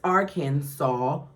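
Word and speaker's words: Arkansas: was saying it wrong I now know that the s in the end is silent Thank you Lisa for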